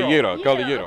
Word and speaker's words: gyro: And I was talking to you, all I know about Greek food is the gyro, but you pronounce it differently. Gyro. It's called a gyro.